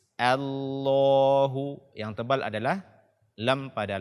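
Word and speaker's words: الله: ayat kedua kesalahan pertama membaca Hamzah washol dengan tebal pada kata Allah ini juga sangat banyak kaum muslimin yang membacanya dengan tebal allahussomad the Allah akan tetapi bacaanya dengan tipis Allaahu yang tebal adalah lem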